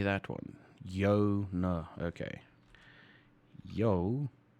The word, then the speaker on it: joune: at that second word that is yours yeah yona how the hell did i say that one yo no okay yo no yours now what do